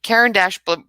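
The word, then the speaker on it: Caran d'Ache: i i've learned how to say it properly karen dash blender pencils um these are just wow they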